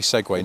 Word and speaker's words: segue: stop and and go definitely segue not seek don't say Seek and I have said